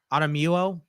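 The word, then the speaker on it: Otomewo: Otomuo, the big defensive end from Minnesota, went to the Vikings here at this pick. Oh yeah. Otomuo.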